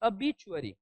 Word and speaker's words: obituary: हम देखेंगे ना तो प्रोनाउंसिएशन है अ बी चू अ री, अबीचुअरी, ठीक है। तो नॉर्मली हम इसे कह सकते हैं अ और बी और स्ट्रेस है, अबीचुअरी, अबीचुअरी, अबीचुअरी क्या है,